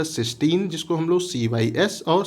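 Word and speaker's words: cystine: इसका भी उच्चारण हमारा सिस्टीन ही है, बट यहाँ पे अगर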